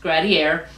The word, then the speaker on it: Gradiare: pronunciation guide in the back, but it is pronounced Gradier.